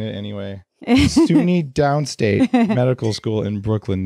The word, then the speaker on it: SUNY: do you say it, S-U-N-Y, or did you say Sunny if you're cool? No, it's SUNY.